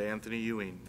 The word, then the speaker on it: Anthony Ewing: which is to hire Anthony Ewing to the rank of Division Chief. Chief Moody. Did I say his name correctly? You did, Anthony Ewing. You are correct.